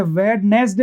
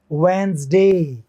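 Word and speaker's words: Wednesday: ऐसे देखो आप, WEDNESDY, इसमें डी साइलेंट होगा, क्या साइलेंट होगा? डी। और क्या बोलेंगे इसको? अच्छा, वेडनेसडे बोलते थे हम लोग, वेडनेसडे नहीं, क्या हो गए? डी तो साइलेंट ही हो जाएगा, और ये एस जो है वो जे का साउंड आएगा, जे। और इसको क्या बोलेंगे? वेंसडे या वेंसडी।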